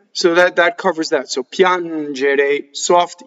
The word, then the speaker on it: piangere: Piangere. So again, piangere, to cry. Piangere. So the accent is on the a, and the a is closed. Piangere. Now, ge is j.